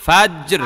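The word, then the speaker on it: فجر: এটা একটু ফাজর ফাজ্জর লাস্টে র আছে না র এর একটা উচ্চারণ করেন ফাজ্জর ফাজর ফাজ্জর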